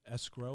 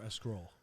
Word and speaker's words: escrow: do you pronounce it is it escrow or a scroll um i would go escrow escrow all right and i